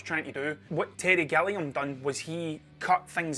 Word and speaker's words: Gilliam: the other day and he told me i was pronouncing his name wrong so gilliam terry gilliam i've been calling him terry gillingham for since i was a teenager terry gilliam i probably